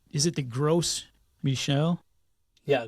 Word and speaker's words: Gros Michel: You mentioned let me make sure I'm pronouncing it correctly. Is it the Gros Michel? Yeah, Gros Michel, Big Mike.